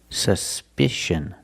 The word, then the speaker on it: suspicion: suspicion suspicion the first syllable the U is pronounced with a short sound uhuh like C up and up s s suspicion the second syllable is the short I like this is I together susp suspicion and the last vowel is a close sound uh uh together suspicion suspicion is the noun